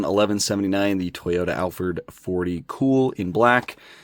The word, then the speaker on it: KUHL: I'm assuming it's just pronounced cool. But yeah, I think I think that's how it's pronounced.